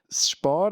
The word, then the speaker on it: Spar: Spar, as you pronounce it accurately, is a grocery store here in Switzerland.